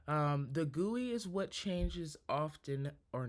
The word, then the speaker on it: GUI: Um it says GUI but it is pronounced guey.